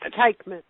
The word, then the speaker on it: Teichmann: have asked you about how to pronounce your last name Debbie it's tyan tyan all right thank you